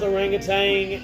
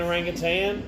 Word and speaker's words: orangutan: did you think orangutan it can be pronounced both orangutan and orangutan it's a I guess your preference I don't know that